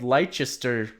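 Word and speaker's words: Leicester: cuz I mean like there's a city called Lester okay but it it's it's spelled Lester oh that's terrible Shire like you just say Lester they just like crop out the middle of that word uh so yeah it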